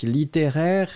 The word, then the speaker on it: littéraire: nous étions à la recherche de littéraires ici littéraire et bien vous l'écrivez l it et et